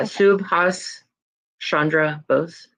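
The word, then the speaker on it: Subhas Chandra Bose: Does anyone know how to pronounce this name? Suas Shandra Rose, sorry. Yeah. Subhas Shandra Bose.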